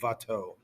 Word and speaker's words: Watteau: Looks like it's a W. It says Watteau. It's pronounced like a V, Watteau.